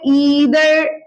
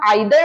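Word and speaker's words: either: अब देखिए अगला है ईदर और या नीदर नॉर। अब इसके दो प्रोनाउंसिएशन होते हैं, अगर आप आइदर और बोलते हैं वो भी सही है, नाइदर नॉर बोलते हैं वो भी सही है।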